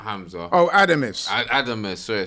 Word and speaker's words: Adames: his name Hamza no not not Hamza oh adames adames sorry I said he's really just stepping